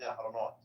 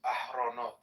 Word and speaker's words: Ahronot: Yediot yahronot. No, wait, you're saying it wrong now. So no, you said the second word wrong. So the first word is Yediot. Yediot Ahronot. Ahronot, not yahronot. Not Yahronot, Ahronot.